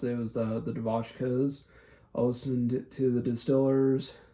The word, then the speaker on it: Devotchkas: I even listened to the Devotchkas. I just used to call them the 99s, but then looked up how to pronounce it. It was the Devotchkas.